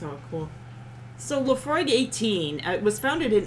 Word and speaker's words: Laphroaig: how do you say laphroaig okay you do pronounce the g um i wasn't sure